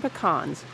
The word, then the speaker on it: pecan: the industry includes the new marketing slogan American pecans the original super nut those trying to recruit